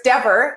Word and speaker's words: Dever: says Cleaver Dever, and it's not Dever, it's Dever. It's rhyming with wherever.